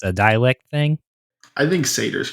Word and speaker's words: satyr: we are talking about satyrs. Yeah, baby! A quick question. How do you say satyrs? Do you call them satyrs or satyrs? Satyr. Satyr. Okay. Like cider, but slang.